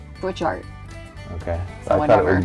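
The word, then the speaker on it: Butchart: Is that really how you say it? Butch art? No, it's like bouchard. It's like Butch art. Yeah, you kind of just say butch art.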